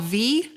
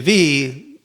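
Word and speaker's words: Viy: The next episode, we will be watching a Soviet Union era movie called V. It's spelled V-I-Y.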